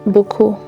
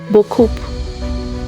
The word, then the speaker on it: beaucoup: You say the word beaucoup and emphasize that P at the end. Then you say beaucoup.